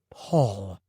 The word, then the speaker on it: Paul: It's P-A-U-L. The U gives the A a sound like all or crawl.